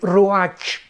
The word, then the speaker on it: ruach: Y encuentra ahí, ¿verdad?, que 4 espíritus, porque la palabra aquí vientos es la palabra hebrea ruach, que se escribe R-U-A-C-H, ruach, pero se pronuncia ruach.